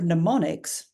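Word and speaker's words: mnemonics: in the word pneumonics the M here is silent because in English and here's an operational rule of the system in English we are not allowed to have the sound at the beginning of a word that's one of the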